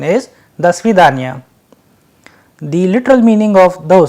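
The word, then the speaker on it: До свидания: When joined together, the correct pronunciation is Do Svidanya.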